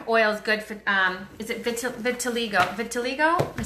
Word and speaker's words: vitiligo: Oh, vitiligo.